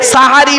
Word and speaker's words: সাহারি: ও বাবা সেহরি নয় শব্দটা, শব্দটা সেহরি নয় গো বাবা, শব্দটা সাহারি। কি বললাম? চলুন, সেহরি আর সাহারির মানেটা কি? দন্তেশয় একার আর দন্তেশয় আকার, আসমান আর জমিন তফাৎ।